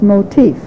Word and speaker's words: motif: there's such a thing it's spelled exactly like motive but it's pronounced motif and motif and music